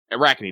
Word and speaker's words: Arachne: Arachne, that's how you pronounce it.